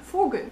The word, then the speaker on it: Vogel: The V sound in German is actually pronounced as F. Like in der Vogel.